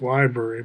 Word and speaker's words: LBRY: Sounds like library, but it's LBRY.